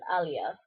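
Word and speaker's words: Aaliyah: since 1997 um before that like TC and Alia that's how you pronounce her name um were my biggest like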